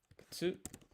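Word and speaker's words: くつ: The U in ku is silent. Kutsu.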